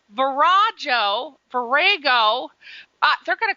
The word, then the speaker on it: Virago: And is that pronounced Virago? I think Virago is, that's what we always say.